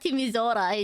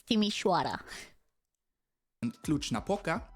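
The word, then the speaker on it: Timișoara: was not even close not timora it's Tim naoka and yeah East and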